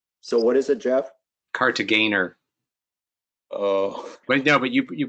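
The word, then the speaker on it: Kartagener: Cartagena. Oh. But no, but you pronounce it with the hard G, not the Cartageners. It's incorrectly done frequently. It's a German name, not a French name.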